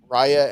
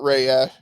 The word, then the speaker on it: Raya: and the last dragon i said it right i was waiting marley was like it's not rhea and i'm sorry well i thought it was reya for the longest time until i saw the movie and they were like